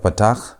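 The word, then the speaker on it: פתח: And Pak has a sound, the shorter a sound as in the word but. So you have kametz which is pronounced as a and you have patak which is pronounced as a a a patak is simply written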